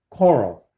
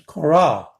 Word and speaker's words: Coral: Now, it's not coral, like coral sea, coral in the sea. It's coral. Put the emphasis on the second.